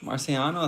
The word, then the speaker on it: Marciano: Marciano is how you say your name.